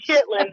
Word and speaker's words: chitterlings: or no I'm sorry they sell chitterlings is how they spell it chit chitlings is how we know it but they spell it chitterlings yes I don't know